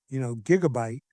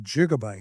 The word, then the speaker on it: gigabyte: So the electrical engineers all pronounce it with a soft G, and the computer engineers all started pronouncing it with a hard G. Huh. So today we hear, gigabyte instead of gigabyte. Right. But if you look it up in the dictionary, you will see that both the soft G and hard G pronunciations are correct.